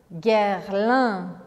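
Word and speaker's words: Guerlain: marca guerra de clã esse final é um som anasalado que você tem que abrir um sorriso para fazer guerra Lan gerlan tá não é nada de pronunciar ou está parado se você não vai falar guerra Len Elaine nada disso é de harlan com um sorrisão ederlan uma loja que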